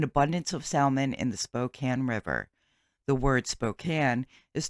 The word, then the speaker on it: Spokane: Before anyone tells me I'm pronouncing it wrong and it is Spokane, it is not. It is Spokane.